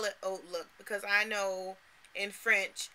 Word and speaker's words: HauteLook: I call it Oat Look because I know in French, H-A-U-T-E is pronounced oat, like oak tree, but with the T at the end instead of K.